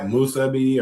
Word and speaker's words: musubi: Musubi, or how you say that?